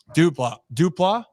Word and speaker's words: Duplass: And actually, I'm seeing Stack right here about the movie with the pronounce the last name again. Duplass.